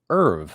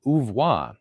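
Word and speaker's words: oeuvre: is again from mrs chester aaron ubra is pronounced erv not ouvoir you sound like an ignoramus let's unpack here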